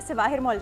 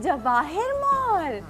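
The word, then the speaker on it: Jawahir Mall: वहाँ जाके जो मैंने कैब वाले को बोला ना सिवाहिर मॉल जाना है, ही was like what सिवाहिर मॉल, कहते जवाहिर मॉल, प्रोनाउंसिएशन का फर्क है।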